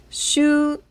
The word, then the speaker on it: 週: So this is pronounced shu.